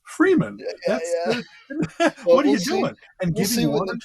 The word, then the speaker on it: Fremen: your own good thing it's not pronounced fremen it's freeman what are you doing